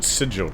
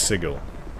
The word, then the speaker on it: Sigil: supposed to speak to funny that she said sidjal troop maybe they changed it after uh everyone just started calling it that or just went with it but it is pronounced sigil hello you said you needed help wait for